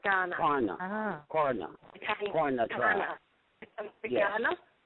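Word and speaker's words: Kaurna: K is pronounced G.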